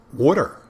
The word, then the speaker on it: water: why we're gonna bury them there or water w-o-o-d-e-r when it's actually you know people say well it's water water you gotta pronounce the tea water water not wooder water